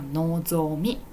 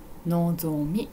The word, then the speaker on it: 望み: はいですのでこれはノゾミのぞみです読み方はいでは次